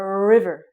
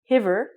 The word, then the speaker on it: river: careful you don't say hiver hiver is not even a word in English but you want to pronounce it like an r and say River okay so be careful